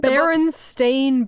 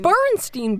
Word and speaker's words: Berenstain: It's actually the Berenstain Bears. I thought it was the Bernstein Bears.